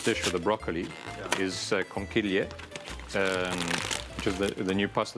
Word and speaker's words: conchiglie: As I said before, the pasta that I'm using for this dish with the broccoli is conchiglie, which is the new pasta that we've launched with Woolworths.